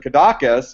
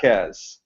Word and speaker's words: Cadaqués: going to go and and I pronounced it kadas you know and he was liking at me had no idea but it's kakz is as how they pronounce it okay um explain explain